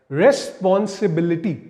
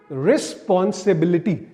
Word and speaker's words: रिस्पांसिबिलिटी: stress syllable भी आपको रिस्पांसिबिलिटी तो यहां पर जो स्ट्रेस सिलेबल है वो बिलिटी पे आ जाएगा बी पे रिस्पांसिबिलिटी और एक वर्ड देखते